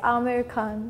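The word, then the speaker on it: Aamir Khan: So the A is very different because they pronounce it as A. But in India, like the double A, it signifies like A. So it's Amir Khan in India.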